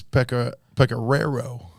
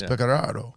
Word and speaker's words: Pecoraro: He's like, no, it's Pecoraro. Pecoraro. And then we're trying to say it right, and it's like Pecoraro. And he's like, well, you emphasize the first R. So it's like a Pecoraro.